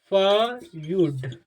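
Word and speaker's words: feud: इसमें कुछ नहीं करना यदि किसी वन में ई और यू आता है तो उ ई और यू को यू प्रोनाउंस कर दिया जाए इसे फ यड फ्यूड फ्यूड है ना फ्यूड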